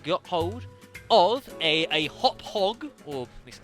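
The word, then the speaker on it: Hauppauge: hop hog or Le I'm told it is pronounced a a hop hog a uh HD video gaming recorder folks uh PVR 2 I think it is uh um I I am reliably informed um that it is pronounced hop hog um h a u p p a u g e I'm reliably informed it's how it's pronounced um it's certainly not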